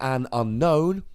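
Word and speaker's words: Unown: coming down here, grabbing an Unknown, or an Unknown as it's actually supposed to be pronounced, but I just can't bring myself to say it in that manner. It just sounds weird.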